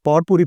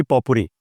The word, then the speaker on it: potpourri: यस यू can think about anything अब ये पावरपुरी पावरपुरी basically इसमें टी आपको साइलेंट बोलना चाहिए सरली स्पीकिंग सही this word is basically पॉपुरी पॉपुरी बट इफ आई से पॉपुरी हम सो